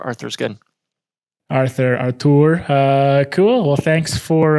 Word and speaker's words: Artur: right that's what it's it's originally artur i'm originally from poland but arthur just makes it easier for everyone so so arthur arthur's good arthur artur uh cool well thanks